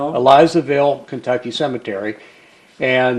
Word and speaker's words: Elizaville: Do you know the pronunciation? Elizaville. Elizaville, Kentucky cemetery.